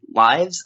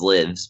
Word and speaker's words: Lives: in guitar man lives i always thought it was livs but i guess it's lives yeah i guess maybe yeah i pronounce it that way just because the japanese is raibu which is like live like live in japan a concert is called